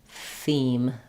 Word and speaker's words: theme: If the TH gives you trouble, just try to rest your tongue between your teeth and blow air. Theme.